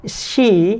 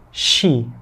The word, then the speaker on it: she: tetap menjadi Nah terus si di objek dibacanya bukan si ya teman-teman tapi dibacanya she agak monyong sedikit oke di objek menjadi